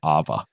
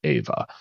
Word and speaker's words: EHVA: She pronounced it Ava. And in order to trick her into pronouncing it correctly, we changed the spelling to more of like a phonetic spelling, EHVA, and that successfully tricked her into pronouncing it the way that we wanted to, EHVA.